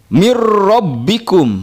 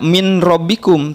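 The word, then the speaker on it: من ربكم: Ro, mirrobbikum, mirrobbikun, nun sukun bertemu dengan ro, tidak min robbikum, tapi membacanya mirrobbikum.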